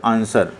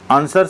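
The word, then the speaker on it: answer: letter in the word आंसर आंसर शब्द में एक मूख अक्षर कौन सा है आंसर शब्द में जो आपका डब्लू वर्ड है वो मुक वर्ड है यानी साइलेंट लेटर है जैसे नाइफ होता है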